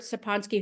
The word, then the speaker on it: Sapolsky: I feel like my brother said I got his name wrong in the book, and I think it's Robert Sapolsky. I think I called him Sapolsky. I believe it's Robert Sapolsky, who's a famous researcher at Stanford.